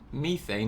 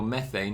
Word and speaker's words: methane: So methane, or methane as the Americans say, will always be a